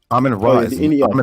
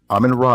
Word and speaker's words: Amen Ra: Amen ra not ramen ra is not mentioned in the anid nor is he mentioned in the agode.